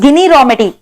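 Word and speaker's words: Ginni Rometty: जिनी रॉमेटी, all right, जिनी रॉमेटी। Actually it इज गिनी रॉमेटी, बट I pronounce it एज जिनी रॉमेटी, ताकि तुम लोग को याद रहे।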